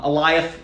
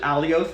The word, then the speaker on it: Eliath: uh the the alioth um eliath there we go i pronounced it alioth in comic books for years so my brain still goes alive elias uh this big